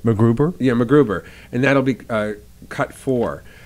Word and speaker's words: MacGruber: is it my saying it right macGruber yeah macGruber and that'll be cut for and i want